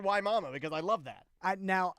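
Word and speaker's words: Wimauma: She said, hey, just a note, Wimayuma? Wimayuma. Yeah, she said it's pronounced Waimama. Waimama, Florida.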